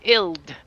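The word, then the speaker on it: ild: Well, what about uh cuz Norwegian for fire is ill. So, ill. Yeah. Yeah. How do you spell that?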